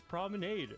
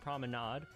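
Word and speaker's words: promenade: It's prominade. This is an English word pronounced prominade. People telling me it's wrong are telling me, "Oh, but that's a French word and it's pronounced prominade."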